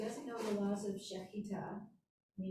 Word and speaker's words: Shechita: Did I pronounce it as Shechita? Shechita, perfect, that's it.